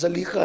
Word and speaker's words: زلیخا: زلیخا، اصل تلفظ زلیخا ہے لیکن کچھ لوگوں کو تھوڑا سا بار پڑتا ہے اس لیے زلیخا ہی کہتا ہوں۔ زلیخا یوسف کے لیے